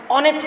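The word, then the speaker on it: honest: अब ऑनेस्ट में बच्चों क्या है, यहाँ पर एच कॉन्सोनेंट है, लेकिन हम इसकी प्रोनाउंसिएशन क्या करते हैं, ऑनेस्ट करते हैं। तो इसको यहाँ पर हम ओ से स्टार्ट हो रही है इसकी साउंड, तो हमने यहाँ पर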